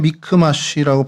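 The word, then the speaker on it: מכמש: 어 히브리어로 그냥 미크마쉬라고 발음이 되는데요.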